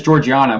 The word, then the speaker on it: Georgiana: my daughter's name is georgiana but it's not the hard g they're like the soft g's like grogu i just don't like